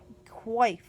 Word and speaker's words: coif: It is pronounced coif, Kwahf.